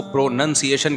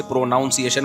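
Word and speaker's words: pronunciation: है pro noun है लेकिन जब इसको प्रोनंसिएशन कहेंगे ना प्रोनंसिएशन नहीं कहते तो मैं अपनी तरफ से इतहाद करके प्रोनाउन से प्रोनाउंस एशन बनाता थाने बताया यह प्रोनाउंस एशन जब होगा तो प्रोनंसिएशन होता है नाउन नहीं लुगत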